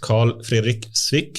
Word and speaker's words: Carl-Fredrik Swic: First, Carl-Fredrik Swic, is that the way to pronounce it?